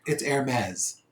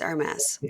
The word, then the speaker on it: Hermès: It's Hermès. It's Hermès. Okay. Can you spell that first thing you said?